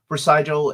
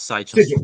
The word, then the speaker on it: Sigil: We even it's actually pronounced Sigil, not Sigil.